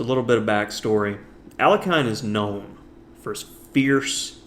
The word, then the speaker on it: Alekhine: In this game, we're going to be taking a look at a masterclass from Alexander Alekhine, or as most Americans say, Alekhine.